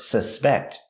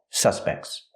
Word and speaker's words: suspect: So if it's a noun, the stress is on the first syllable.